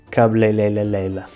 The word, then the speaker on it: cabeleireira: Ora, portanto, se falares inglês, basta pegares neste som que já tens na tua língua e em vez de pronunciares cabeleireira, pronuncias R como o D de daddy.